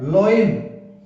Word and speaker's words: loin: ये है लोइन, ले, ओई ने, लोइन। ये वो लोइन शेर वाला नहीं, वो होता है LION, और इसका होता है, ये लोइन है। तो अब एक जो दूसरी स्पेलिंग होती है LION, इसमें देखो LOIN है, लोइन। और ये जो धोती लंगोट इसको कहते हैं, ये है जिसको शेर वाला ये है, इसका साउंड होता है लायन।